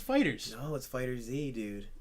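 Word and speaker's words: FighterZ: fighters it's actually type it is fighters it's pronounced fighters know what's fighters a dude I swear to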